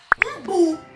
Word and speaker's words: umbu: A última sílaba é a sílaba que mais demora. Então, é a sílaba mais forte. Então, eu vou dizer que umbu é uma palavra oxítona.